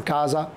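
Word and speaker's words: casa: الاس سونورا زي مثلا كازا، كوزا، ايزولا، فازو، كل ده بتتنطق ز ز ز ز، يبقى الز الاس سونورا.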